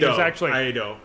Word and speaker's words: Iaido: I had to remember how to pronounce it. Iaido.